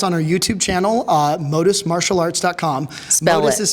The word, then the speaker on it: Modus: Modus is spelled M-O-D-U-S.